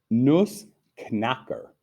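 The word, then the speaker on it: Nussknacker: nutzcracker right pretty close nus knocker you really have to pronounce that k der nus their nose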